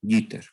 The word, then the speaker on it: jitter: Sí, entonces se escribe así como lo tenemos aquí en verde, jitter, pero en inglés, bueno, se pronunciaría como jitter.